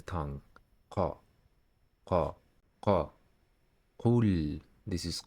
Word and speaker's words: ق: The pronunciation of this letter does not occur in English. The letter Qaf is like the English K, but it is produced deeper in the throat at the back of the tongue.